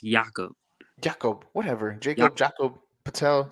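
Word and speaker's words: Jakob: free agent next year he's pronounced yaakov Jacob whatever Jacob Jacob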